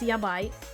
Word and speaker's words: yabai: There's a word in Japanese pronounced yabai.